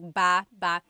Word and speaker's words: baba: Like ba ba. So depending on how you're saying it, it could be ba chin baba. Emphasis is on the first syllable.